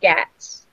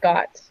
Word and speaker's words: Ghats: that mountain range and it's gats not got so gas like cats